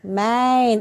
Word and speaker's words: mijn: Gimana kira-kira bacanya yang betul? Min. Bukan min. Itu min itu Min. jawab apa? Min plus, tapi ini bukan min. Main. Agak sedikit dibuka mulutnya. Main. Bukan min.